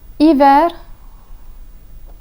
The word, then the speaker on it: hiver: Since the H is always silent, any word that begins with this letter is pronounced as if it began with a vowel.